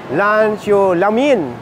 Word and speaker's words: Lan Zhou La Mien: tayo sa grand 1919 ito siya ang pronounciation dito ay lano lamin at ang noodles dito